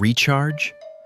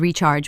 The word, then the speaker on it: recharge: I said recharge with stress on the first syllable. Right. Exactly the problem. It should be recharge with stress on the second syllable.